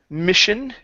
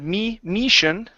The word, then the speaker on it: mission: go to the word Mission instead of me Mission okay give me a short i m mission mission okay good